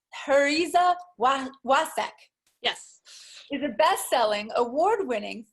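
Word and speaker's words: Pariza Wacek: Michele P.W, pronounced Heriza Wasek.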